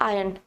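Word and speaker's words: iron: तो याद रखना, ये आयरन नहीं होता है, इट्स आयरन, आर is silent.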